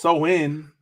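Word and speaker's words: Samhain: know go over it a little bit so Sam Hayne Sam Hayne a GIC word pronounced so in is a pagan religious Festival originating from an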